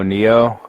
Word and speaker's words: Nioh: Noah. I think it's Noah. Like Nioh. You know what I'm talking about? Oh, Neo.